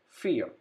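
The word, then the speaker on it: vier: have i e so i e is pronounced as e so we pronounce it like this fear number four number five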